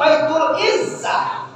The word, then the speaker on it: Baitul Izzah: Baitul Izzah, bacanya Baitul Izzah.